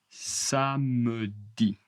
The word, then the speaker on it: samedi: Samedi. Attention le e.